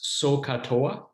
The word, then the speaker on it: SOH CAH TOA: And you often pronounce this SOH CAH TOA, sine opposite over hypotenuse, cosine adjacent over hypotenuse, tangent opposite over adjacent.